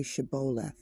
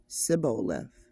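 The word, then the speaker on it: shibboleth: they said all right say shabo if he said sio because he could not pronounce the word correctly They seized him and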